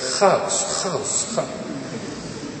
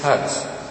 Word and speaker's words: huis: He always said haus. But it is huis.